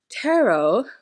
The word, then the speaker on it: tarot: of a person's fate tarot which rhymes with Pharaoh is an anagram of